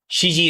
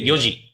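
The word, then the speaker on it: 四時: Sometimes you say you you you take off the you don't say this shiji is not a thing. There's no something called the death hour. So you say yoji goji or nani works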